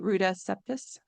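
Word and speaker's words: Ruta Sepetys: I I read um recently read a book by Rudus Septus. That's how you say it. Ruda Septus.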